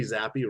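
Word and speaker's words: Zappe: Bryce young M Jones Bailey zappy rhymes with crappy Baker Mayfield will Levis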